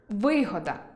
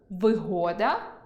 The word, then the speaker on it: вигода: Подивімося на цю пару слів Вигода – те, що дає прибуток. Вигода – зручність. Прочитайте пари слів зі словорозрізнювальним наголосом.